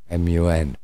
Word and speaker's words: Mun: Ajahn Man, or as some people like to spell it, Mun, M-U-N, Mun, because man, in London you say man,